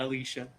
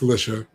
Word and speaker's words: Alicia: Yes, that's how she pronounces it. Don't come at me. It's not Alicia. It's Alicia.